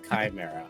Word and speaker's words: Chimera: It's Chimera. Gau just has a a habit of pronouncing things in his own way.